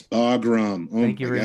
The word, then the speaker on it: Bagram: Oh, I know I mispronounced. It's Bagram.